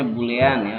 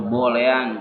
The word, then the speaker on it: boolean: dan bulean ya Wulan bacanya bulean atau boolean Terserah kalian nah interior ini digunakan